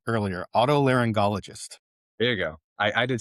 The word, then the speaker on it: otolaryngologist: Otolaryngologist. There you go. I did too. An otolaryngologist or gologist, not geologist. You sure? Not. There's no J.